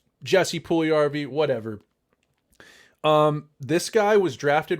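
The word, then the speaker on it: Puljujärvi: I think it's his name is actually pronounced Jesse Puljujarvi, um, Jesse Puljujarvi, whatever.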